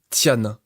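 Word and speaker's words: 天: Le signe se prononce tian et signifie ciel.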